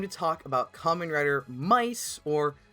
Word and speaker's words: MY-TH: It's Thomas Jujube and it's time to talk about Kamen Rider Mice or Myth as it's spelled, but it's actually officially pronounced Mice.